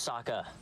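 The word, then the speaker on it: Sokka: you you lost no my name's Saka rhymes with aa aa and waka waka what that's the second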